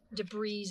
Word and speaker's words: debris: with some of my debris and whatnot. Debris, as my daughter. I kept telling her the S is silent.